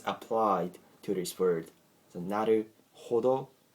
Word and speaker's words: なるほど: So you gotta be careful in pronouncing these words. Not to emphasize the letter H. So even though H is included in Naruhodo, okay, H-O sound is very slightly pronounced.